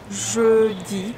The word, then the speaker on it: jeudi: Smile when you pronounce E. Mercredi. Jeudi.